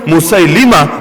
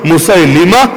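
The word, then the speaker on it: মুসাইলিমা: উচ্চারণ আসওয়াদ আনাস দ্বিতীয়জন মুসালিমা বাংলাদেশের লোকে বলে মুসালামা সহ উচ্চারণ মুসামা কাজব তার নাম না কাজ্জাব মানে হলো চরম মিথ্যুক।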